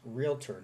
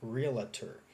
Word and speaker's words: realtor: word realtor is pronounced realtor not realtor if you look at the typing on here and how it's spelled out it's r-e-a-l-t-o-r realtor there's no a and there's no a after L okay a lot of